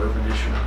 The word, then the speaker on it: Upanishad: So, can you spell the fourth era of the Upanishad? Yeah, Upanishad. Upanishas. Some pronounce it try to spell that S-H-O-S-A-D, Upanishad. Because in Sanskrit, they simply write simple S and pronounce it as Sh.